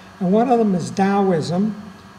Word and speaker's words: Taoism: one of them is taoism spelled with a t but pronounced with a d and right away if